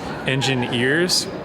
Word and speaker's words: Engineears: that he mentioned called Engineears. So like Engineers, but it's spelled like engine, ENGINEEARS, which I'm gonna check out.